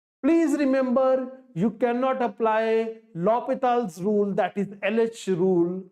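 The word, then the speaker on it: L'Hôpital: remember you cannot apply lopital's rule that is LH rule or L Hospital's rule this is how students pronounce it in cbse exam you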